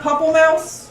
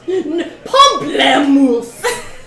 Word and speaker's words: Pamplemousse: so it's not Pupple Mouse? Pamplemousse. If you cannot pronounce it, that is okay.